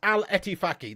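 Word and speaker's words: Al-Ettifaq: Now listen, it's Al Etifaki. That's how it's pronounced, I believe.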